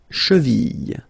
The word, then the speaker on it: cheville: La cheville, remember, double L like that, after I, cheville.